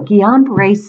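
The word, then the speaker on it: Guillain-Barré: I'm pronouncing that correct it's French and so the L is silent so Jian brace syndrome think about it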